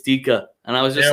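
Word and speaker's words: Dijk: I was like, dude, how do you say this name? And he was like, yeah, it's Dika. And I was like, no, it fucking isn't.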